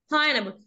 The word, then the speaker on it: pineapple: 3 3 2 no 2 2 syllables. two. pineapple. pineapple because letter E هنا magic، ده مش هيتنطق.